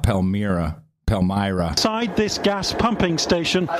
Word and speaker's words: Palmyra: by the way the pronunciation it varies but pal Myra is the way I heard it and wrote it down exactly when some of the American officials said it uh they they're in